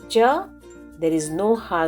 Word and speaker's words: छ: in hindi we say chata pronounce cha as you pronounce cha in chair but with her sound so cha is not cha it is cha for writing follow the